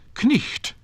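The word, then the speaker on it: cniht: So knicht, which has become night, began with K, and ritan, to write, began with W.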